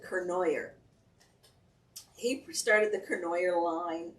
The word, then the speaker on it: Cournoyer: started the corn cornier they pronounce it kernoyer he started the kernoyer